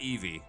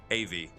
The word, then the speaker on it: Avi: Her name is Avi, yes. Not Evie, Avi.